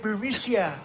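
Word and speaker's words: Burisma: got more troops yeah burmesia they say pronounce it burisia a real beautiful company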